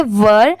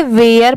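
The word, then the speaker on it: were: डब्ल्यू ई आर ई। इसे हम पढ़ेंगे वर। बट बहुत सारे लोग इसे वेयर पढ़ते हैं। वो रॉन्ग होता है। इसकी प्रोनाउंसिएशन है वर।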